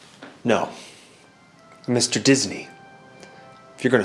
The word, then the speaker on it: Disney: Dinsey. No. Mr. Disney.